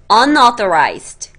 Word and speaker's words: unauthorized: Unauthorized. un 자르시고요. author. authorized. unauthorized. unauthorized. 오케이?